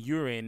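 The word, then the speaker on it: Yurin: There's this girl named Urine, not the P, not not spelled like P either, but it's urine. Y U R I N.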